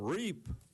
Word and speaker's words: REAP: Okay, the rent escrow program, REAP, rhymes with rape.